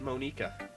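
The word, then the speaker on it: Monika: It's pronounced Monica.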